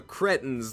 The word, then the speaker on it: cretin: Cretin is the normal pronunciation in the UK.